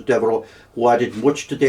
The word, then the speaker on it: Devereux: In Wexford, they tend to pronounce it Devereux. Do they? Yes, but I think it should be, it's, the French pronunciation is Devereux, who added much to the 18th century Belfast.